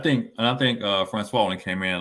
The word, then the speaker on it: Francois: is it Ricky Jean France Francois there you go yeah Francois he pronounced that Francois and then the two